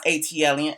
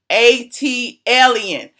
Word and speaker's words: ATLien: videos, ATLien, learn how to spell how to pronounce ATLien. It's actually on the cup. I put it on the cup on purpose. See the little pronunciation? ATLien.